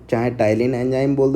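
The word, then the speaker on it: ptyalin: अब ऐसा एंजाइम जो कि स्टार्च को डाइजेस्ट करता है जिसका नाम क्या होता है, पेटाइलिन या फिर टाइलिन बोलते हैं, पी साइलेंट होता है।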